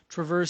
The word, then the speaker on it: Traverse: We're talking about what we were looking for in what we were looking for in the Traverse City Traverse. No, Traverse.